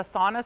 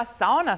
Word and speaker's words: sauna: A sauna store, and if you're Finnish, you say sauna. Sauna, yeah, that's. Sauna. I've been corrected many. That's the right. That's the correct pronunciation.